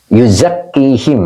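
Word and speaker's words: يُزَكِّيهِمْ: mana tadi Nah ini yuzakihim ya yuzaki Ini adalah fi'il mudor failnya Hua ya ini dibacanya him ya yuzakim asalnya Hum domirasil ya Karena untuk memudahkan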